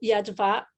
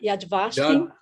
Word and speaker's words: Yad Vashem: Inclusive, o senhor é diretor do Yad Vashem, eu não sei se minha pronúncia está correta, Yad Vashem. Yad Vashem.